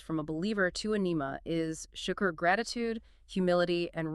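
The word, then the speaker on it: نعمة: So nima, with a kasra, a short I sound, generally refers to a divine blessing, a grace, or a favor bestowed by Allah.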